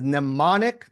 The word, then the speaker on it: mnemonic: First one is mnemonic. I can't spell the word. Mnemonic devices or mnemonic devices, right? It's a really fun word to say. Mnemonic. The M is silent, right?